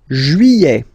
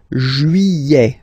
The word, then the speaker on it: juillet: Juillet. Okay, you get this double L here. Y-y-y-y-y. Juillet. Juillet. Don't pronounce this final T, E-T here at the end.